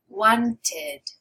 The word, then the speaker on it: wanted: So it's only when your word ends with a T sound or a D sound already before you add that ed. Then you're adding this extra syllable.